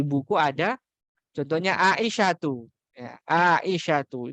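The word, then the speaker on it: عائشةُ: Ya, Aisyatu itu enggak boleh bacanya Aisyatun. Nah, itu jelas salah. Sangat-sangat salah. Kemudian juga Fatimatu.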